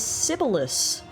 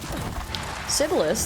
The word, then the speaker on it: Sibelius: Sibyllus, that's the name of a famous Finnish composer. Oh, is it really? Or Sibelius, maybe. I think it's actually might be the correct pronunciation.